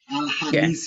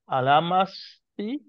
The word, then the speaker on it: Alhamisi: Alamasi. Alamasi. Alhamisi. Alamasi. No. Alhamisi. Misi, not masi.